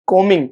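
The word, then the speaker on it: combing: कॉम नहीं कॉमिंग। बी नहीं pronounce करोगे।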